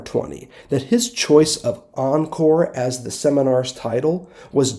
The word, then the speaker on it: Encore: At stake is the stupidity that conditions what I named my seminar after this year, and that is pronounced Encore.